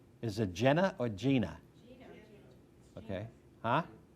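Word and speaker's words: Jena: Yeah, well, that's what I don't think it matters how you pronounce it. Some people from Louisiana say Jenna, so I guess it really just depends on your accent.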